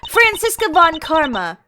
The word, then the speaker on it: Franziska von Karma: Franziska von Karma, the prosecutorial prodigy. That's how you pronounce it.